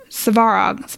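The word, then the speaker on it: Svarog: Archangel Michael uh-huh or by the gods frog suvarov's Farah oh okay I'm not super great with those names but it's spelled SVA ROG SOG hmm Google search coming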